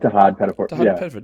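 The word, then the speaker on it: Tahaad Pettiford: on another guard back in the college system, Tahad Pedifford. I'm sure I'm Am I mispronouncing that? I hope I'm getting that correct. Uh, yeah, like Tahad Pedford.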